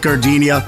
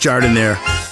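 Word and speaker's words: Jardinière: Hey guys, when you're at the counter, don't call it gardenia. It's pronounced Jardiniere.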